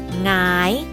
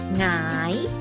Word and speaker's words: หงาย: เสียง สูง ขึ้น ค่ะ หรือ คำ นี้ ค่ะ หงาย นอน หงาย นะ คะ ห ง อา ยอ หงาย เรา มา ดู ตัว อย่าง คำ ที่ มี